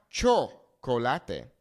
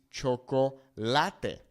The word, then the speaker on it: chocolate: If we take a look at the word chocolate, the natural pronunciation is going to fall on this A, okay? It's not chocolate. It's not chocolate. It's chocolate, okay?